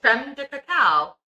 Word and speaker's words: crème de cacao: Crème de cacao.